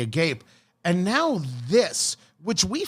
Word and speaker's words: Agape: I believe you could pronounce it the Agape.